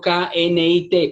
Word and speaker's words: knit: Necesito aprender, Elkin, que coser, que tejer es knit, escrito K-N-I-T, pero se pronuncia knit.